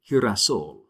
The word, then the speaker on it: girasol: It's almost like the H in the word hut. All right? Girasol or geografía. So gato, gol, guante, but girasol, geografía. So that's why those special notes are there. It changes the pronunciation just a little bit.